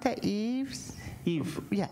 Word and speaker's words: Yves: How do you pronounce that? Yves? Yves. Yeah, Yves.